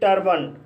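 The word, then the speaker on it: turban: जैसे टर्बन, टर्बन शब्द के अंत में ए एन आया है और यहाँ पर ए का उच्चारण आ हुआ है, इसलिए इसे टर्बन पढ़ा जाता है।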